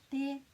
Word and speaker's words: te: So the T in these two words has a flat sound. So this is te and this is ta.